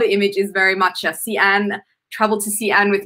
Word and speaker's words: Xi'an: the name as like zion or zhiyan uh so just a bit of an fyi in chinese the x the letter x is more of a sh sound uh rather than a z sound so anyway chinese lesson